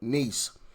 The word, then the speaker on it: Nice: mayor mayoral race in Nice. I believe that's how you pronounce that, right? It's not nice. It's nice. That's how you pronounce that city.